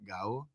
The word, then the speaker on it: Gabo: How do you say it? Gabo. Yeah. I say Gabo.